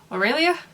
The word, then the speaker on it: Aurelia: Aurelia? Yeah, which I think is pronounced the same way as Colin Firth's love interest in Love Actually.